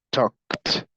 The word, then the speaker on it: talked: Como termina con consonante fuerte, su pasado se pronuncia como t. En este caso, la consonante fuerte k. Entonces, talked, talked.